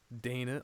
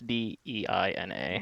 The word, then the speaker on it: Dana: okay, well, it's not DNA or DANA. It's DEINA. Oh, so different.